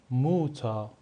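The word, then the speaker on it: Mutter: پدر یا یا یا موتا به معنی مادر پس ا اق صدای آ میده مثل فاتا مثل موتا ما این رو نمی‌خونیم فاتر می‌خونیم فاتا یا موتا پدر و مادر حرف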